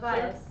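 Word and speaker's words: Vaius: Uh, Vias. How do you spell that?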